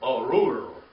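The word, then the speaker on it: ארור: Okay, it's Beattah, Be'atah, and then arur, arur, arur. Say that, arur. You rolled your tongue on that one, arur. Okay, sounds like a growl, doesn't it?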